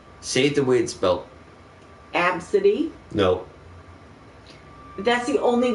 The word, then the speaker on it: Abcde: no no after say save the winds belt AB City no but that's the only way it could possibly be pronounced a B I know and that's why